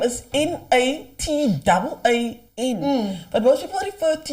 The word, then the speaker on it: Nataan: So, but then technically people will still be pronouncing it as Nathan. Nathan, Nataan, they all...